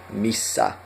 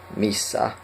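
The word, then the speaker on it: missä: Missa. Missa. And you know we have the double consonant there, so we hold it.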